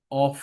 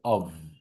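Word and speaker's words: of: এফ, এখানে কিন্তু আমরা অফ বলি, বাট এটা উচ্চারণ হবে অভ, ভা সাউন্ডস হবে, এই দেখেন ভা সাউন্ডস, অভ।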